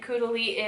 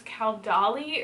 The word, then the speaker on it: Caudalie: enjoying using lately, and I have it, and Caudalie is a very high-end brand, so I'm gonna use it. And I'm finally saying it right. I used to, whenever I first got it, I thought it was Caudalie or something like that, and so then I